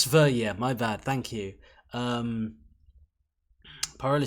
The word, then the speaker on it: Sverige: So it's pronounced Sverige, my bad, thank you.